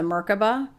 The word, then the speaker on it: Merkaba: Yes, it is the star tetrahedron, also known as the Merkaba or Merkavah, depending on the pronunciation.